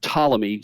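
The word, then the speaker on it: Ptolemy: uh was a general by the name of tmy spelled with a p it's the PT tmy and the toic he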